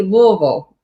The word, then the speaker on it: Louisville: louisville and uh if i pronounce it right i know everybody says it differently how do you how do you say it it's supposed to be louisville all right michael all